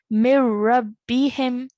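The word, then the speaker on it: من ربهم: No nasal sound when you see a noon sakin followed by a ra mushaddad. It will be read without the noon sakin. Mir-rabbihim.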